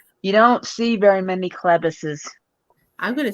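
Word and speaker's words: Chlebus: mispronounced all the time what's your last name Clevis oh okay okay it's get it's spelled c-h-l-e-b-u-s and that's actually different I don't that's not like a common last name it's not you don't see very many clevises I'm gonna say I think that really sounds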